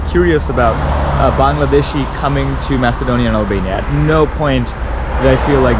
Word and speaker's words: Macedonia: So, officially I am in Macedonia or North Macedonia. It's not Macedonia, by the way. It's Macedonia. I don't know why we pronounce it wrong.